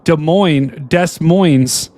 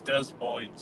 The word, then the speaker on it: Des Moines: Now, did you guys know that Des Moines is pronounced... Well, this guy's saying the S is silent. Dude, what do you guys think? Cap. It's Des Moines.